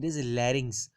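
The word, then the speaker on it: larynx: जब आप लेरिस सुनेंगे एल ए आर वाई एन एक्स इट is pronounce it इ लेरिस सो लंगस आप जब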